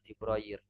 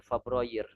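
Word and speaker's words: فبراير: Jadi dari segi istikmal ya sah-sah saja kita mau menyebutkan Fabroir atau Fibrair memang keduanya ada yang menggunakannya seperti itu. Tapi yang sering ana dengar dari mereka menyebutkan fabrir ya, fnya diberikan harakat fathah.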